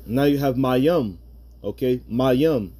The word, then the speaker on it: Mayim: Okay, Mayim. You're never supposed to pronounce it Mayama. All right, it's Mayim. All right, and that's the Paleo Hebrew.